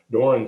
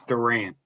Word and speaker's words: Duran: And our invitation will be by Doran. And can you tell me, am I saying your name wrong? Would you give me the correct pronunciation? It's Duran. Duran.